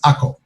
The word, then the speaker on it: Akko: acre above and the acre below and i'm saying acre but the proper pronunciation in israel of this city is ako the crusaders called it